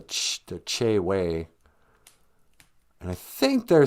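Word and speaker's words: Chewe: in cass lake but they spell it c-h-e-w-e and in ojibwe e's sound like a so it should be called the ch way and i think they're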